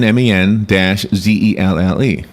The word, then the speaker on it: Menzel: Men, MEN-ZELLE, Menzel.